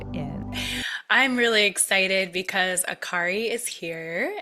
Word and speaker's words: Akary: I'm really excited because Aari is here. Am I saying it right? Yes, you are.